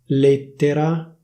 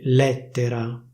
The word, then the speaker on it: lettera: The official pronunciation should be /léttera/. People from Milan say /lèttera/ - /lèttera/.